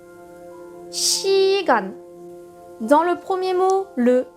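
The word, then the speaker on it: 시간: prononce che parce que avec un son I le ce va se prononcer che on va arriver à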